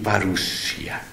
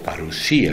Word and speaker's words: parusía: señal habrá de tu parusia? O parusía, si lo vamos a decir en griego, pero ya existe en español la palabra parusia, así que permítanme ponerle el acento en castellano.